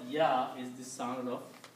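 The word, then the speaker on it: ي: Wow has the sound of o in English and yah has the sound of e in English.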